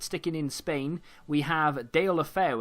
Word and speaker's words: Deulofeu: in Spain, we have Deulofeu. And if you think I'm mispronouncing that, that is taken straight from a Spanish man's mouth.